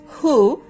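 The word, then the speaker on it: who: যখন দেখবো যে ডব্লিউ এইচ এর পরে ওস লেটারটি আছে ও লেটারটি আছে সো সেই ক্ষেত্রে আমরা ডব্লিউ টাকে সাইলেন্ট করে পড়বো যেমন হু হুম হুজ হোল হু এভার এই ধরনের ওয়ার্ডগুলোতে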